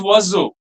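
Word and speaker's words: oiseau: Nouns ending with the letters E A U where it is pronounced as O at the end like waso there are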